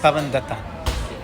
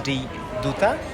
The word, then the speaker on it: Dutta: Pav data. So it's it's people pronounce it because it's du. So people pronounce as duta. Yes. But the correct pronunciation is pav data.